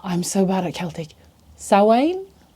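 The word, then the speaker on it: Samhain: Sain. It's written Sam Hine, but it's not pronounced Sam Hine.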